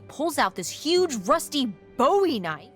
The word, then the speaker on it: Bowie: no warning he pulls out this huge Rusty Bowie KN it's actually pronounced buoy what no it's like the last name like David Bowie no different last name buoy are you just messing with me no that's